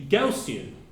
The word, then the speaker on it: Gaussian: you're saying gaussian Raw you should be three syllables that should be gaussian okay and to me